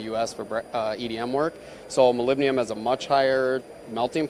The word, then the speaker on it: molybdenum: So what we've got here, this is a molybdenum moly cut wire EDM.